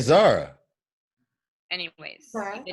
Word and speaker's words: Zara: Zora, like he said. Zora, like he said. Oh, I didn't say it right. Listen, you said Zora. I said Zara.